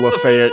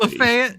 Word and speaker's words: Lafayette: It's spelled exactly the same, Thank you, Mississippi. but they call it Lafayette.